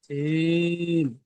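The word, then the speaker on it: ج: জিম, জিমটা যখন উচ্চারণ করবেন, হা, জিমটা যখন উচ্চারণ করবেন জিভের মাঝখানটা উপরের তালুর সঙ্গে মিলাবেন। মিলালে কি হবে, চেপে উচ্চারণ হবে জিম।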